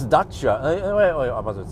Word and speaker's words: Dacia: not Romanian, or like James May calls it Dacia, the Dacia Sandero. Yeah, the Dacia Sandero. But I think it's supposed to be pronounced Dacia.